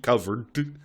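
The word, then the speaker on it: Coverd: Uh, it's called Covered, uh, but just spelled without the last D, the last E. So, C O V E R D. Covered.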